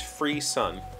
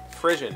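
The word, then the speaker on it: frisson: the pronunciation guide says free sun f-r-i-s-s-o-n frisian is how i would say that but the pronunciation guide does say free sun with emphasis on free never heard the word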